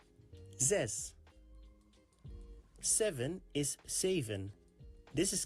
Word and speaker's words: zes: five six is sess this is pronounced like z and the s sound of the word mess z and s zes seven is seven This is kind of pronounced like and fun.